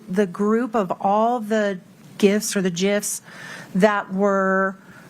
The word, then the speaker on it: GIF: It is with a soft G, not the J type sound.